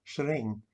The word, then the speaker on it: shring: Actually, the guy who trained me made it sound like one syllable, shring, and that's how I always said it.